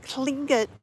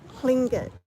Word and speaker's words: Tlingit: It's hard to say, so he said to say Lynn, and like your tongue touches the top of roof of your mouth, and it's spelled TL. I said it's like do Lynn and blow under your tongue too.